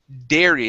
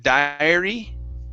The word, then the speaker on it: dairy: nice job um next is um dairy instead of diary okay this is dare dairy dairy dairy okay very good